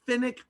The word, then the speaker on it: fennec: A fennec fox, smallest wild dog. Let me spell that for you, f-e-n-n-e-c fox.